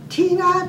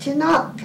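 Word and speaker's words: Tynagh: a town that you call it Tina but it's spelled t-y-n-a-g-h when we finally went to visit his relatives that was after his death and my mother's death visit his relatives and Tina I pronounced it tonight I mean how would you pronounce t-y-n-a-g-h and we had kind of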